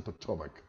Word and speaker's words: Potomac: por Washington DC se llama Potomac que se pronuncia Potomac OK Bueno un señor de mu buena intuición